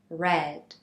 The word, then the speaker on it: read: same for all tenses also pay attention to the pronunciation of the verb read although it is spelled the same in all three conjugations the pronunciation is different read present simple read past simple read past participle for example I cut